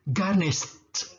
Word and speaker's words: garnished: Garnish. Pakai ed jadi t bunyinya. Garnished. Nah, ada st. Garnished.